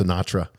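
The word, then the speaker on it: CNATRA: that it was pronounced sinatra sinatra yeah so the the general um robert westendorf uh rear admiral robert westendorf it's called chief of naval air training c-n-a-t-r-a and it's pronounced sinatra oh my god that's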